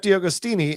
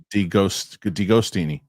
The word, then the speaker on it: DiAgostini: Steph DiAgostini, aka Marvel Man. Would you say it again? Steph DiAgostini. It's DiGostini. DiGostini? Is the A silent? That's what he told me.